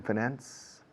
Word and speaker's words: finance: Se admite acentuación de la segunda sílaba. So you want to finance the purchase. Se dicen los dos. Personally, I say finance.